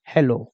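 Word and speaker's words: hello: कहेगा सर कैसे, तो देखो एच ई को बोलेंगे हे, एल को बोलेंगे ल। अब देखो लास्ट में ओ आया तो लास्ट में क्या बताए ये वाला मात्रा लगा दो, तो मात्रा लगा दो, क्या बन जाएगा हेलो, क्या बन जाएगा हेलो।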